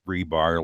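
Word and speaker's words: RBAR: What I want you to know is I am the fellow that coined the term rebar, and it is pronounced rebar, like the cement rods stuck in cement that are not going anywhere fast forever.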